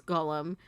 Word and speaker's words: GOLM: He asked to be referred to by the last bit, which of course is Golem. Much to his surprise, this ends up being pronounced like Golem anyway.